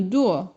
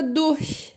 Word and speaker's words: durch: do Alemão chamada do atenção para pronúncia o deu essa intenção de duu duu duu o r quase que viram Lazinho dor dor e o ch atenção do CH Due e abrindo um pouquinho os dentes né por isso que